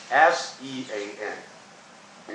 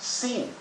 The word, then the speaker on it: Sean: the name capital s s e a n now there's a spell s-e-a-m based on Phonics the name should be pronounced scene or Ascend but in reality it is pronounced Sean with a long or